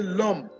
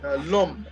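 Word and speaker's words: l'homme: man demand you say lum el apostrophe apostrophe h-o-w-m-e and it is pronounced as if uh lump is pronounced as if you are writing l-o-m that is a pronunciation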